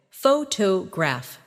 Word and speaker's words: photograph: In English, some words are pronounced with extra emphasis on one part. For example, photograph, photographer, and photographic. The stress moves and that changes the sound.